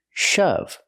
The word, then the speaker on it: shove: to push something hard shove pronunciation use the short H sound like cup and up shove example the boy